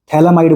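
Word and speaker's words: phthalimide: यहां पर P silent होता है। थैलामाइड बोलते हैं इसको अपन।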